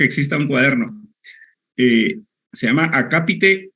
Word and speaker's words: acápite: esto no entonces escriban acápite o epígrafe acapite o epígrafe son dos palabras esdrújulas acá y te lleva acento en la segunda a y epígrafe tiene lleva